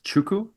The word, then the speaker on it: 吃苦: Chuku? 吃苦. It's, how would you spell it in English?